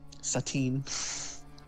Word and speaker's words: Satine: It's pronounced Satine. Let's slow down. Satine.